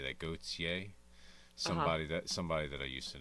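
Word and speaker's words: Gotye: Gautier.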